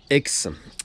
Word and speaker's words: Haix: très connu en France, qui s'appelle X. Alors, X, ça s'écrit H-A-I-X.